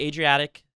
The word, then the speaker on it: Adriatic: So, the Adriatic Sea, is that how you pronounce it?